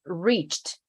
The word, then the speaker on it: reached: Again, reached. Very, very subtle T sound, no E.